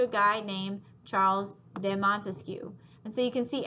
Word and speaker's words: Montesquieu: of dividing power and Montesquieu has three syllables just like we have three branches so draw everything right